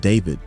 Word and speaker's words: D4vd: December 2024, a leaked song demo by the artist David, which is spelled D4V, whose real name is David Anthony Burke, surfaces online.